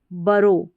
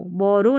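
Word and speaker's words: borough: फिर यहाँ पर देखें BO को ब और रो, बरो, बरो करके इसको प्रोनाउंस करेंगे, बरो, बरो, बोरो नहीं पढ़ना है यहाँ पर, बरो पढ़ना है इसको।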